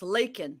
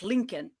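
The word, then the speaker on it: Laken: Her name is Lakin, not Lincoln.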